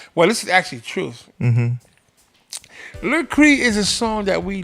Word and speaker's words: Le Cri: Is that how you pronounce it? Le Cri. Le Cri.